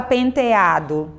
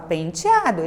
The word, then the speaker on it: penteado: Você não fala penteado, né? Você fala penteado. Então você pronuncia o E com som de I.